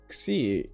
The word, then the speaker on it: Xi: So to pronounce Xi, you just need to put the K and S together, making K, S, X.